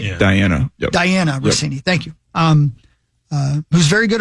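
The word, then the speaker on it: Dianna Russini: Diane Rossini? Mm-hmm. Diane Rossini, right? Yeah. Diana. Yep. Diana Rossini.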